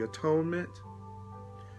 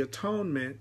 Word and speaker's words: atonement: how to serve the atonement. And the atonement, what is the atonement? The atonement, and some people pronounce it at-one-ment, but it's really the atonement, is the uplifting of the whole sonship.